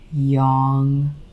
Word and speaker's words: yang: So many people are starting to pronounce it young instead of yang.